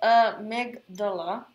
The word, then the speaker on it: amygdala: Our amygdala, pronounced amygdala, is about the size